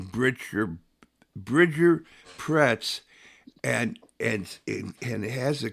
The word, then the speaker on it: Bridger Pretz: Ladies and gentlemen, this is Bridger Pretz.